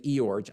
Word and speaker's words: Iorg: see, by the way, yes, his name is Eorg. I r a lot of people pronounce it all kind of ways, but he was here at our church.